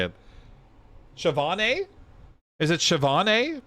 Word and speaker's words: Siobhan: How do I pronounce it? English is clearly not consistent. No, it's not. Sebon.